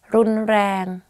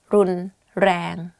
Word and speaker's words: รุนแรง: The only difficult part is you have to click your tongue when you, while you're speaking, like R. You can try R, R, R, R, R, R, like that.